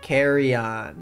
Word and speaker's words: Carreon: Is that how you say it? Yeah, it is. I mean, technically it's not. You're supposed to say it with the flair of like Carreon, but like Carreon. I was only raised by my white parent, so therefore I just say it like Carreon.